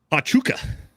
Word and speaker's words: Pachuca: Pachuca, that's how it's pronounced.